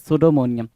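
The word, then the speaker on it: pseudomania: The term is सुडोमोनियम। सुडोमोनिया बोलते time, सुडोमोनिया बोलते time या सुडो बोलते टाइम हम पी को साइलेंट रखते हैं।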